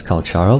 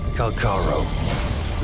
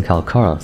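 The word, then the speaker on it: Calcharo: Virgil I mean Karo people have been pronouncing him as Karo but based on the official vo announcement calaro leader of the ghost hounds mercenary group they pronounced him calaro so that's how I'll be calling him calar is a very standard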